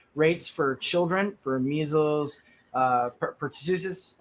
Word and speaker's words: pertussis: that word, jabs rates for children for measles, pertussis. How do you say that? Pertussis?